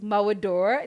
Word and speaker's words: Mawudor: today for the show we've got dr bright malwador did i say that correct yes yes oh